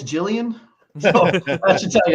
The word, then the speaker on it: Julian: do you feel about Julian Hill Josh uh well you're pronouncing his name wrong it's Jillian so I should tell